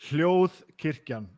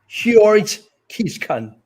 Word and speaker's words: Hljóðkirkjan: Hljóðkirkjan, yeah. There we go. Hljóðkirkjan.